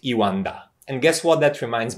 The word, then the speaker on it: E1DA: be even yes but i guess we pronounce it iwanda and guess what that